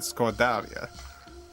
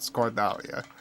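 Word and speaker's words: σκορδαλιά: It wasn't that I got the pronunciation wrong, it's just she would always correct like the specific emphasis. So whenever I say scordalia, Yaya's voice pops in my head. No, scordalia. Sorry, Yaya.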